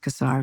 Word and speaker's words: Casar: Uh, it's pronounced Casar Scott from Texas.